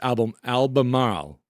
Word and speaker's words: Albemarle: It's pronounced Albemarle. It's hard with my New England accent, but we're going to get through this. Albemarle.